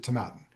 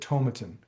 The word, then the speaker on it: Tomatin: But the Scots, I'm pretty sure, when they were around, pronounced it Tomatin. I think that is, I don't think they ever said Tomatin.